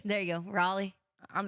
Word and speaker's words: Raleigh: Raleigh Ry Riley that's Raleigh Raley you got to like swallow it R there you go Raleigh I'm not gonna say